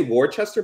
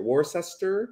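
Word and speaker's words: Worcester: welcome from war such I want to say War Chester but there's no age there war sister is that how you say it Massachusetts oh that's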